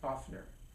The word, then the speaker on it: OFNR: step is O fnr which we NBC people pronounce oftener we basically say the